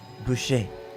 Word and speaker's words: Boucher: It's, in a French accent, Maria Boucher.